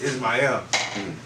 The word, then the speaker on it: Ismael: She's like, Ishmael. I was like, nah, ain't no H. She's like, ain't no H. I was like, nah, it's ISMAEL. She was like, okay, shout out to all the scammers.